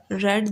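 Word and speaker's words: read: ली है you have रीड D book you have you have करता है और इसके according and third form on verb में यह रेड प्रोनाउंस हो गई ठीक है तो डियर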